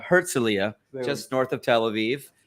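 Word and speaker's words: Herzliya: um how do you say this town what's herzelia herzelia just north of Tel Aviv I'm gonna have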